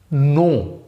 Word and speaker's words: know: কিন্তু না, এখানে আপনি কে এর উচ্চারণ একদম করবেন না। এখানে কে এর উচ্চারণটা সাইলেন্স থাকবে। কে এর উচ্চারণ কেমন থাকবে? উজ্জ্ব থাকবে, গোপন থাকবে, কে এর উচ্চারণ হবে না।